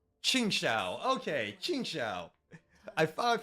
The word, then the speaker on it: Qingxiao: Chingsha. Okay. Chingsha. I finally pronounce.